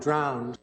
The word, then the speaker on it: drowned: first mouse quickly gave up and drowned인데 first mouse The first mouse quickly gave up and drowned. 들어보시면 이제 여기는 드라 발음이 굉장히 자연스럽게 나죠.